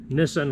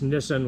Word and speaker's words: Nissin: did spell it wrong it's not nissan like the car it's nissan like the brake company this is the one